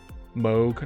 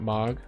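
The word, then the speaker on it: Mohg: Moog, not Mog. I mean, tomato, no? Or should I not pronounce the H enough?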